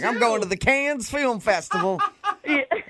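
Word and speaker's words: Cannes: Yeah, it's can. It's can.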